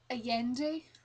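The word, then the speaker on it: Allende: the Spirits by Isabelle aandi um yeah it's pronounced different how it's spelled um she's a Chilean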